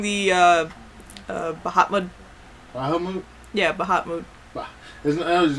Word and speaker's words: Bahamut: like the Bahamas but instead of ma you make moot or mut or whatever Bahamut there you go there's no extra tea in there okay thank you all right so I finally learned how to say it it's just the Bahamas with mute character development anyway um